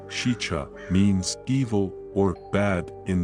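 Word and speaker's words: Sica: Sika hollow, pronounced shicha, means evil or bad in the Dakota language.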